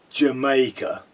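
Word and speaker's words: D'yer Mak'er: Now, I hear Americans talking about this song and they don't understand they they don't understand that it's pronounced Jamaica and that as a sort of cod reggae song.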